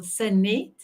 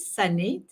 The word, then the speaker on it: Sanet: Sanet. I always say a sun and it, Sanet. And fun, it's like having fun in the sun.